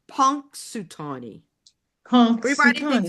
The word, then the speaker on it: Punxsutawney: x s u t a w NE y pronounced punk sutani punk everybody thinks it's punk sutani you know